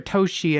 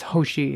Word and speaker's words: Hoshi: I was like, is it Hoshi or Toshi? And it was like, it's Hoshi, and I don't know why I was scared to say it.